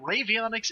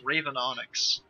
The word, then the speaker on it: Ravenonics: just been corrected uh it is not ravionics it is ravenonics sorry well at least